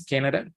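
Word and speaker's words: Canadá: you know tilde and when you see a tilde it's because you have to stress out the word there so in this case you don't say you say okay you you keep your voice low and then you stretch the word okay Canada is Canada then you have India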